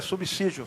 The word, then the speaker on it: subsídio: conversar sobre subsídio né a pronúncia é subsídio são de S não dizer mas pronunciando